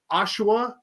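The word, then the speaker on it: Oshawa: much and they're from I didn't know how to pronounce it you said it earlier Chris it's ashua Ontario yeah I was trying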